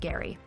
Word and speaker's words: Gerry: never heard of elbridge Gary yes it's pronounced Gary elected to the Continental